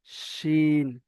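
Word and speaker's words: ش: তো এই হাঁস বলার শেষে যেটা উচ্চারণ হচ্ছে হাঁস, এই উচ্চারণটা এখানে হবে শিন, শিন।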